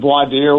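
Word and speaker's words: voir dire: I tell us tell us about people pronounce it voadier. Once in a while I hear it vadier, but it's a French term the French term that means to speak the truth.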